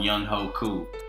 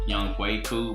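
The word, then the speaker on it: Younghoe Koo: But after closing off, I just want to say, leave I'm gonna call him Young Ho Cool, because I know it's pronounced Young Hui Cool, but it's Young Ho Cool to Flam.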